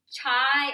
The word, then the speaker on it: chia: how to pronounce it it's chai or chia seeds it looks like chai when you order chai tea from starbucks but steve says it's pronounced chia so i'm not really sure c-h-i-a whatever you want to call that you need